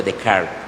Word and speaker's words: Descartes: este progresismo estaría René de Carl se escribe Descartes pero se pronuncia de Card con su frase pienso